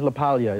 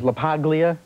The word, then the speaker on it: LaPaglia: Anthony pleasure please Anthony laala yes it is laalia is it mispronounced often all the time as laaga laaga laaga laia you name it I get